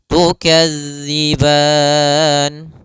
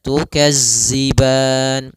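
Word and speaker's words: تكذبان: tukadziban pada lafal tukadzi sempurnakan daripada makhraj huruf dalal jangan sampai terbaca dengan huruf zai misalnya tukazziban.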